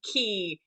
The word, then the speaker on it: quay: and things like that like um key in ireland um so the keys which is you know along the the liffey the river in dublin um is spelled q-u-a-y so i was like